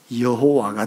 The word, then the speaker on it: 여호와: 읽지 않는다고 생각했기 때문에 그리고이 여호와라고 하는 발음은 주 아도나이 하는 단어에 찍혀 있는 모음 부호를이 자 여호와라고 말씀하신 자의 자음에 붙여서 읽으면 여호와가 됩니다 여러분 야란 말 들어보셨죠